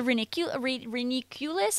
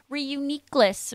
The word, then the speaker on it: Reuniclus: The Reniculus? I can never say it correctly. Runaringus? See, now that's... I'm not talking about Runaringus. Reuniclus. Reuniclus? Reuniclus. That sounds correct.